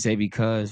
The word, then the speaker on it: Zay Bcuz: So, man, name is Zay Bcuz. Why? Because That's how you pronounce it.